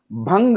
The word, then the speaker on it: ಭಂಗ: ಥೈ ಅನ್ನೋತ ತೈತೈ ಅಂತಾನೆ ಭಂಗ ಅನ್ನೋದನ್ನ ಬಂಗ ಅಂತಾನೆ ಇಲ್ಲಿ ನೋಡಿ ಖಡ್ಗಗಳು ಜಳಪಿಸಿದವು